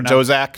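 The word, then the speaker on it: Daszak: Peter Dozak. Dozak. Do you know who was put in charge of the investigation to find out if there was gain-of-function research done by the WHO? Rhymes with Reader Dozak.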